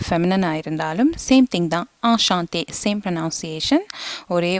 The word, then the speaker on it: enchanté: நீங்கள் ஒரு masculine இருந்தாலும் இல்லாட்டி ஒரு feminine இருந்தாலும் சேம் திங் தான், enchanté, சேம் ப்ரொனவுன்சியேஷன், ஒரே உச்சரிப்பு தான். ஸோ enchantéன்னு தான் சொல்லணும்.